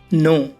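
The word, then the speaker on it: know: For example, नो। अब नो में ही देख लो गाइस, इसमें एन से पहले के है तो के साइलेंट है हमारा और इसकी हिंदी होगी जानना।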